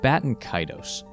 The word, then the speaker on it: Baten Kaitos: The correct English pronunciation, first and foremost, is Baten Kaitos.